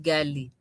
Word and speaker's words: ghali: Even the GH, most people don't like to pronounce it because it's like the Arabic. Like saying gali instead of gali. Gali. Ghali. Everyone just say ghali instead of ghali.